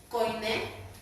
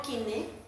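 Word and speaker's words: koiné: Griego coiné, que realmente se pronuncia griego kiné.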